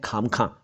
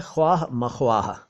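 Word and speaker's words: ख़्वाह-म-ख़्वाह: देखिए, एक आप अक्सर शब्द सुनते होंगे, कुछ लोग बोलते हैं खाम खां या कुछ बोलते हैं खामा खां, ठीक है ना। इस की बात करते हैं। तो देखिए, असल में यह है ख्वाह मख्वाह।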